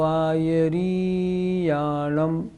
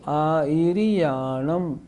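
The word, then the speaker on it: आयरियाणं: छोटी है बड़ी नहीं लोग बोलते हैं नमो आयरी याम यह गलत हो गया कैसे बोलेंगे नमो आ रयाम ई और ऋ छोटी उच्चारण देखना यह गाथा है गाथा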